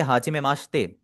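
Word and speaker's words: はじめまして: आपको बताया हुआ है मेक श्योर दैट द ई इन माशे is silent to sound similar to माशे आपने ई हाजी माशते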